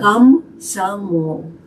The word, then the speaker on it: Komsomol: Komsomol.